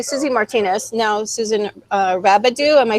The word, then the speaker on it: Rabideau: Now Susan Rabideau.